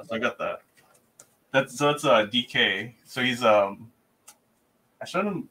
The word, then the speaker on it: Dike: You said DK, just the, like, the initials? Dyke. It's spelled like Dyke. I thought it was Dyke, but then they said his name, or he pronounces it DK.